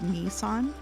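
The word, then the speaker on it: 兄さん: They also want me to tell you that Nii-san is pronounced Ni-san, and Nee is pronounced Ne-san.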